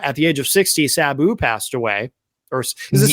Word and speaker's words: Sabu: Uh at the age of 60, Sabu passed away. Or is it Sabu or Sabu? What is the correct way to pronounce? Saboo.